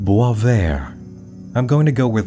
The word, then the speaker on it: Boisvert: addressing it is it boys vert boyvert boyver if you look around online it seems to be French and is actually pronounced boisver I'm going to go